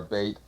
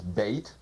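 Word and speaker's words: בית: of the alphabet is bait pronounced b or V usually it means a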